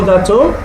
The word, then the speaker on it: gâteau: Voulez-vous un gâteau? Would you like a cake? Gâteau. You see the last expression there is is increased, it's pronounced more loudly towards the end.